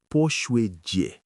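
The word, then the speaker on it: 泼水节: have never heard about, the Water Splashing Festival, Pō Shuǐ Jié.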